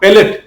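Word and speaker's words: palate: প্লেট না প্যালেট, heart প্যালেট, মূর্ধা বা heart প্যালেট।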